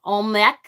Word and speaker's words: Oimelc: I've heard it pronounced Oimelc, like Oimelc, Umilc.